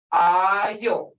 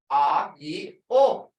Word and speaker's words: Ayo: Ayo. Hear it? A-yi-o. Ayo.